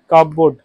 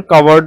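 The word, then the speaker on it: cupboard: কাপবোর্ড। Skeleton in দা কাব বোর্ড। এর উচ্চারণ কাভারড এরকম হয়।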